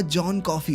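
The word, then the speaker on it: John Coffey: उसने कहा, जॉन कॉफी। पीने वाली कॉफी बस स्पेलिंग थोड़ी अलग है।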